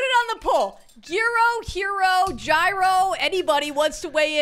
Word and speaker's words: gyro: So if I was going to try to tell you how to say it over text, I would spell it H-E-R-O because I pronounce it like hero.